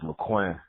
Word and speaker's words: Laquinn: going and i know my name is kind of um hard to pronounce but it's mcqueen so i'm sorry yeah yeah